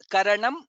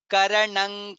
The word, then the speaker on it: कारणं: second line karanam karanam there I could hear slight bit of na I am not sure if you pronounce it what we should get here is ka kha ga gha nga and ka karanang karanang karta that's how it comes there is no nakara there karanang karanang karta that's how we pronounce if you can chant